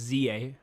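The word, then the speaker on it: Z-A: pronounce the title is It's it's not it's Z there was a dash okay so it's Za okay yeah I don't think it's Z po Legend Za yeah I like zah though I mean zah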